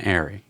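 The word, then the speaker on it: ARRI: what camera other than an AR or Ari depending on how you want to pronounce it that's kind of the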